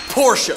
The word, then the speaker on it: Porsche: ah rich man I Choose You It's pronounced Porsche poor man I Choose You Naughty by happiness